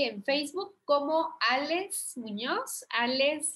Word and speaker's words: Aless: Alex se escribe como se escucha, Ale con doble S al final, Alex Muñoz.